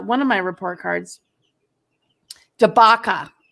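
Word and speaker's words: Dabaca: of my report cards debaca rhyme with chewbacca d a a d-a-b-a-c-a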